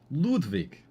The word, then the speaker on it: Ludwig: famous people you know Ludwig is going to be one of the judges crazy stuff Ludwig yeah Ludwig or I I should pronounce it correctly Ludwick you know okay I'm